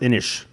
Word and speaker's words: Inis: we recently started getting Innes to the table and this has some great art only it's pronounced in ich ich that's right because it's Irish Scottish Gaelic yeah Celtic yeah yeah